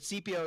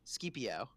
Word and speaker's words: Scipio: Oh, but CPO is pronounced Scipio.